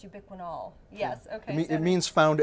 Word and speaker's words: ubiquinol: form of the CoQ10 I was saying it wrong it's ubiquinol yes okay it means